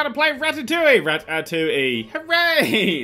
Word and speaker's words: Ratatouille: Rat atoui. Hooray. It's weird that you have a film that you have to have the pronunciation underneath, but that's the French for you.